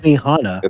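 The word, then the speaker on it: Benihana: hogin how you say it again Benny Han Benny Hana a Japanese Benny Hana oh you said yeah that's internationally known internationally known to rock the microphone microphone you know uh who Benny hanah's son is no who's that you don't know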